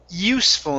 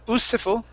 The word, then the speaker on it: useful: our first word is useful instead of usful it's you useful use for okay so that e this e right in the middle is not pronounced okay so instead of